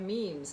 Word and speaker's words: meme: a little bit the ugandan goddess meme spelled like you know like like we have memes nowadays we talk about memes